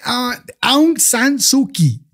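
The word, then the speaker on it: Aung San Suu Kyi: okay Bueno entonces este me tocó hablar de a sanuki es que se pronuncia así pero es un personaje interesante porque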